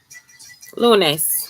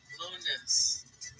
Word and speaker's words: lunes: Lunes. La, starts with an L. Lunes.